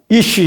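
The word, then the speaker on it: אִישׁ: 근데 이 어떤 사람, 이시 이렇게 히브리어 발음이 나는데요.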